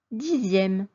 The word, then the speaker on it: dixième: 10, dixième. Attention, X, I, E accent grave, ME se prononce zième.